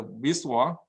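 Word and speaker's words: VSWR: which is called a Wiswar. The Wiswar is a way to pronounce a word with no vowel.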